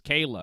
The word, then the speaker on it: Kayla: And if Kyla comes into this division at Kayla. 135, that's what I said, Dave. No, you said And- Kyla. and- Her name's Kayla.